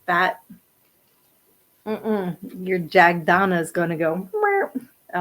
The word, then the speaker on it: Jagdana: But still, I would be, I'll spell that again. It's JAGDANA, Jagdana.